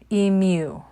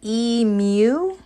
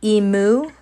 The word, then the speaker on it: emu: I think we decided it's pronounced emu. Not emu, like a goth cow, but it's emu.